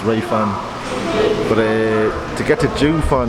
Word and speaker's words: Jiufen: I think it's pronounced Jiufen.